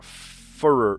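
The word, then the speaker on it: furor: Uh uproar furer furer. How do you pronounce that word?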